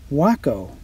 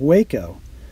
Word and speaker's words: Waco: that's aboard this one notice the manufacturer name is pronounced Wacko and not Waco which I had been mistakenly doing for years the same is true